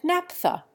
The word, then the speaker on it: naphtha: We change the F sound to plain P in diphtheria, diphthong, and naphtha.